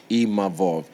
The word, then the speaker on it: Imavov: I learned how to say his name properly, Imavov, because, we shot a fair one, he beat me, and then, cool, we move on, I move forward to the next one.